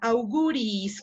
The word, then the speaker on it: auguris: Si hay doble I, se separan, no pertenecen a la misma sílaba. Auguris. Muy bien.